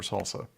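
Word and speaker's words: SLSA: verifiable information required for salsa salsa i'm ready for chips that's how they say it is salsa yeah the the in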